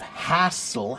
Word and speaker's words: hassle: You're struggling with the pronunciation of hassle, ha ha ha ha ha, big A, and hustle, Hustle has the schwa sound.